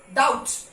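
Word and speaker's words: doubt: यहां पे नहीं, subtle, subtle, date, B pronounce नहीं होगा, डेट. डाउट, डाउट नहीं, डेप्ट नहीं होता है, डेप्ट नहीं होता है, date, date, B इज not pronounce.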